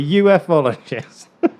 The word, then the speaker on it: ufologist: saying about earlier about ufologists. I keep saying UFologists. I call them UFologists. I'm probably going to get slated by everybody that watches it because it's supposed to be pronounced ufologist.